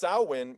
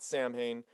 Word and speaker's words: Samhain: um it's actually pronounced sauwin it's but it's spelled samhain and he calls it samhain but it's pronounced sauwan because it's like a gaelic thing i'd let's just let's